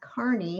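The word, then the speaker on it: Carney: I know people always ask, how do you pronounce carny when it's spelt out? You can't always tell. Like, it's like a drive in a car and like your knee on your leg.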